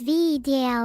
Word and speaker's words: Vedal: Vedal, pronounced as Vedal in case you're a knucklehead, has given me more sounds recently, and expect to hear a lot more crickets like I just played.